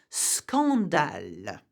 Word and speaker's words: scandale: When the SC, however, is followed by O, A, or U, the two letters are pronounced separately. So you would say scandale, scandal.